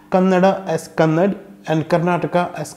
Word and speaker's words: Kannada: we say it "Kannada". However when alpa prana is at the end of the word, North Indians seem to drop it when they pronounce that word.